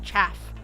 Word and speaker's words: chaff: Thank God you said it right. Cafe? I've heard so many different names for that word. I'm like, it's chaff. Or chafe. Someone called it chafe.